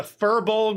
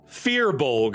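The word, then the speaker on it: firbolg: going to be a f Is it a furbul or a firebol? Furbul. Hey, let's look it up. Let's look it up. Fearbol.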